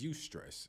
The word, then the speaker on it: eustress: And that word for positive stress is eustress, and that's spelled EUSTRESS, right?